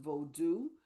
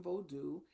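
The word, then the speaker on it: Vodou: So I will start by saying that voodoo is actually pronounced bodu. Um if that in if you are referring to Haitian vodu and the thing that I will offer about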